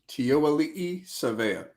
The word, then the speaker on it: Tiaoalii Savea: Pronounce it for me. Make it sound good. Tiaoalii Savea.